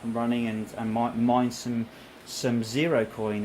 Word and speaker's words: Sero: running, and mine some Zero Coin. And it's Super SUPER, then Sero is spelled SERO.